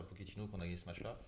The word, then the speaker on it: Pochettino: C'est comme ça, je le prononce bien. Oui, Pochettino, oui, c'est oui.